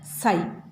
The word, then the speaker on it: psi: is denoted by psi how to read this psi p x i then p is silent okay this p is silent and we read as psi psi psi okay and